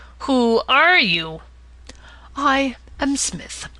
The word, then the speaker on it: Psmith: are you I am Smith said the old aonian reverently there is a preliminary P before the name this however is silent like the tomb compare such words as